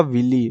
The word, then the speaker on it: villi: इसका आंसर आपका विली, VILLI, ठीक है ना, ये स्पेलिंग यहाँ पे भरनी है आपको, और इसको हम विली कहते हैं।